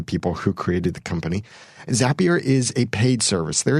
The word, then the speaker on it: Zapier: a single trigger whereas zapier and it is pronounced that way because you make zaps with zapier so it's not zapier zapier and that is